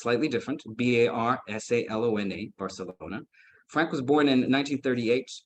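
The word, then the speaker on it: Barsalona: on global scale is Mr Frank Barcelona uh it's spelled almost exactly like the city but it's slightly different b-a-r-s-a-l-o-n-a Barcelona Frank was born in 1938 and while he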